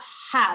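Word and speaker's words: ح: So tell us about ha. This is called a sharp ha. So it is pronounced from the middle of the throat.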